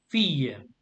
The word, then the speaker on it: fille: The T is silent. So et 2 filles.